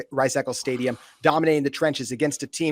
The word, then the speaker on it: Rice-Eccles: Rice-Eccles.